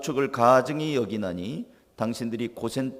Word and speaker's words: 고센: 따라가 뭐 해 볼까요 고센 땅에 살라 아 네 오늘 설교 듣다가 잊어버려도 제목만 좀 기억하면 생각이다 날 거에요 다시 한번 고센 땅에 살라 아 이거 발음 잘못하면 고생 땅에 살라 이렇게 되어 어 목사님이 우리 보고